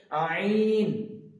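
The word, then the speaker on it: ع: বেরোবে, বাতাস বেরোবে, এবং আইনটা বের করার সময় আমাদেরকে কণ্ঠনালীর এই মাঝখান হইতে উচ্চারিত করতে হবে আইন।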